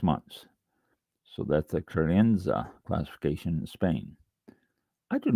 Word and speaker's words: crianza: Okay, let's see how to pronounce this. Crianza.